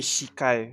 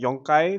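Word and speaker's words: 四回: joy pause that so you would say it wouldn't be shikai because it just doesn't sound right for me anyway uh but it'll be nanaka uh sorry it'd be yonkai for four and uh and nanakai for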